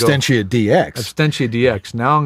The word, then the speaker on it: Absentia: Now No, it's Absentia DX. Absentia DX. Now I'm going to have to go look it up. That's Absentia, ABS. ENTIA. We're not even saying it right. It's Absentia. Absentia.